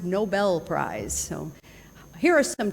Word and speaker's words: Nobel: think about the Nobel Prize it's actually not Nobel Prize it's pronounced Nobel Prize so here are some tips on how